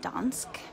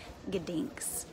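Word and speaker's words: Gdańsk: name of the city I was calling it Don but it's ginks ginks and it drove me crazy cuz I thought people were mispronouncing it and it's gink so yeah I'm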